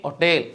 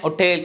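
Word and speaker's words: hotel: അപ്പോ പരീക്ഷയിലെ ചോദ്യങ്ങളിൽ എ ഹോട്ടൽ എ ഹോട്ടൽ എന്നായിരിക്കും കിടക്കുന്നത് അത് തെറ്റില്ല പരീക്ഷയുടെ ചോദ്യങ്ങളിൽ എല്ലാം എ ഹോട്ടൽ ആണ് വരുന്നത് പക്ഷേ കറക്റ്റ് പ്രൊനൻസിയേഷൻ ബേസിൽ ആൻ ആണ് അവിടെ വരേണ്ടത് ആൻ ഒട്ടേൽ എന്നാണ് ഉച്ചരിക്കേണ്ടത് ഇനി അടുത്തത് നോക്കിയേ നമുക്ക്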